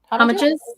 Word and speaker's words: homage: Homages? Yeah. Okay. Are homages. And then homages. Homages. So these are just homages. Homages. No, homages. No, homage. Like no manches.